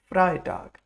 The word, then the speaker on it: Freitag: Is it Freitag or Freitag? EI makes I, so it's Freitag.